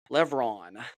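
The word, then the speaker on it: Levrone: her name her name is Sydney mclocklin Levon Levon that's how you pronounce it but uh she did a fantastic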